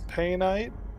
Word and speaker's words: painite: some monsight or some surrender bite or some painite that's how it's pronounced um and whatever this is alexandrite um